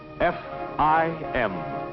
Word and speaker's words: fim: F I M, pronounced fim, being, as you've guessed it, Portuguese for the end.